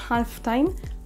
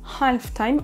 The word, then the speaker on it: halftime: Attention donc à bien prononcer les H là où il en faut, comme dans le mot halftime, halftime.